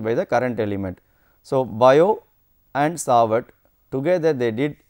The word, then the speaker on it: Biot: Shortly after Oersted's discovery, Jean-Baptiste Biot, the T here is silent, and Felix Savart performed quantitative experiments to get the expression for the magnetic field produced by current elements. From their experimental results, Biot and Sawat arrived at